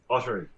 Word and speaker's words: Audrey: that is your net is your last name spelled oat pronounced or Audrey Audrey Audrey and you're also in